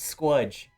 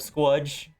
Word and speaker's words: Squudge: Do you think we should put it to Squidge instead of Squudge? I like Squudge. Okay. It sounds like fudge. Squudge. Squudge. Squudge rhymes with fudge.